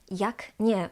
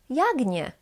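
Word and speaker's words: jak: can be pronounced differently I pronounce this as Yak with K pronounced as C voiceless but for example some people from kco or from posan can pronounce it yag yag so they change the C to its voice equivalent G yag and this is normal this is correct simply we have two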